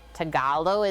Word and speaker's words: Tagalog: like that i feel washing off my knife tagalo is how it's pronounced let's do like that for the eggies